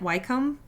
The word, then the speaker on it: Wycombe: I think that's how you say it, Wycombe.